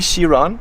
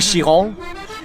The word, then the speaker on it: Chiron: So Louis Chiron, I didn't pronounce that perfectly. It's Louis Chiron.